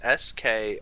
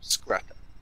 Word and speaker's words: Skratta: It's Skratta for the first name, Skrata.